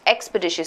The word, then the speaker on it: expeditious: I have 4 syllables here, right? It's expeditious, not expeditious, and not expeditious. So 1 and 3 out, right? And the shious is sh, as in T-I-O.